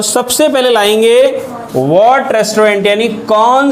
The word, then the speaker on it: restaurant: Right, last Sunday dinner कौन से रेस्टोरेंट में लिखना, कौन से रेस्टोरेंट में, RESTAURANT, रेस्टोरेंट की स्पेलिंग होती है रेस्टोरेंट, क्या बोलेंगे? रेस्टोरेंट, और फ्रेंच में इसको बोलते हैं रेस्तरां।